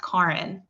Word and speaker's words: Kären: the eggs that's because my name is actually pronounced karen your face well they actually they've always pronounced it that way my mom her first language is french so it is pronounced a little bit differently when she says it and then very